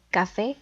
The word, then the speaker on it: café: siguientes palabras que son café dividida en dos sílabas y la sílaba tónica recae en la última como termina en vocal